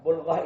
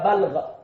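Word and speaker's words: بلغة: Nah, bulghah ini ada bulghah, ada balghah. Hati-hati bacanya. Ini artinya beda sekali.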